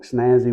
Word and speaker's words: SNASY: the word snazzy again it's pronounced like snazzy with a z but it's spelled with an S and and it stands